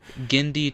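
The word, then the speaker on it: Genndy: of me do you know how to actually pronounce it so I'm not butchering it gindi Tartakovsky tartakovsky now what is that a I'm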